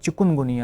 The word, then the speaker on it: chikungunya: Plus एक लफ्ज जो लोगों ने बनाया हुआ है चिकन। तो यह चिकन नहीं है। इसकी स्पेलिंग सी एच आई के यू एन है। यह चिकुनगुनिया है।